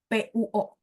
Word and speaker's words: 播: Oh, 直播.播dia, jadi kalau ketemu BO itu bacanya PUO. B kan dibaca P. Nah, ya. sisipin U di tengah-tengah ya.